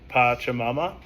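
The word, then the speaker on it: Pachamama: It's from the pronunciation I got here. It's patchamama.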